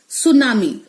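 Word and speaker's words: tsunami: सुनामी। अब सुनामी की spelling T से शुरू होती है, लेकिन जब हम बोलते हैं तो टी का साउंड होता ही नहीं है।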